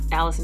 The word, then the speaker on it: Allycin: Allison everywhere. And then Allison is spelled totally ridiculously, so that is ALLYCIN Oh.